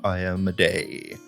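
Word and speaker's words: Iomedae: strong devout followers of ioma day I looked it up multiple times that's how you pronounce her yeah there's been much discussion on the pronunciation but I believe I am a day is correct who is a mainly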